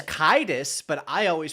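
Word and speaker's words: Caedus: It's Kaidus but I always pronounced it Darth Cadis.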